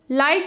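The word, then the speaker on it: light: लाइट जब बोलते हैं तो उसमें भी हमारा जी साइलेंट होता है।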